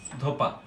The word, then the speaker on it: ধোবা: কোনো একটা শব্দে একটি বর্ণের পরিবর্তে নতুন কোনো বর্ণ আসে, যেমন ধোবা, এখানে ব আছে, আমরা উচ্চারণ করি কি, ধোপা।